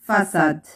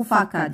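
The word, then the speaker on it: façade: والآن نضع هذه العلامة لأنها لكي تنطق صحيحة هي le son. وهناك أيضا فساد. فساد فساد إذا لم أضع سيديل هنا ستنطق فاكاد يعني نضطر نضع هذه العلامة لسهل نطقها هكذا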